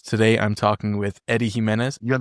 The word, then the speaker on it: Jimenez: Today I'm talking with Eddie Himenez. You're the first person that pronounces it the right way, so thank you. Eddie Himenez, founder of Primal Trust down in South Florida.